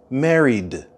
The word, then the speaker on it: married: be married with someone listen carefully for the D sound at the end of married married married and the stress of the word married is at the beginning married married you're not